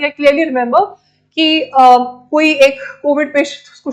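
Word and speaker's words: coup: Many of your African countries also, जहां पे हम मिलिट्री कू की बात करते हैं, the P alphabet is silent, military कू की बात करते हैं।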